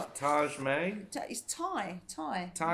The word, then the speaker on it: Tadhg: Tadhg. Tadhg? Okay. Tadhg May. Tadhg. Tadhg. Just for the record, it's spelled t a d h g.